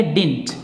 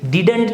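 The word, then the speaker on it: didn't: लेकिन इसको हमें बोलना चाहिए डिंट। क्या बोलना चाहिए, डिंट। डिडंट नहीं बोलना चाहिए, ये जो डी है ये साइलेंट हो जाएगा, हम बोलेंगे डिंट।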